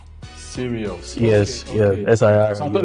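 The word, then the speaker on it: Sirius: I hope I got that name right be serious sorry be serious be not B serious serious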